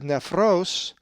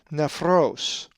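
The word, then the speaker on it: νεφρός: If you said nephros, you are correct, for the accent is over the omicron, nephros.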